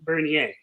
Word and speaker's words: Bernier: Bernier, am I now pronouncing that name right? I use the French pronunciation Bernier, but Bernier Bernier, is fine. like Perrier, Bernier.